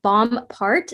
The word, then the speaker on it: Bomparte: my name is my last name is Bomb part so the E is silent um I'm a pretty